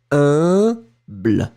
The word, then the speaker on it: humble: So remember that pronunciation of U and M together, it's a nasal, like in parfum. Remember, we talked about that. U, M together, it's un. So it's like UN. And then, in that situation, you will pronounce it humble.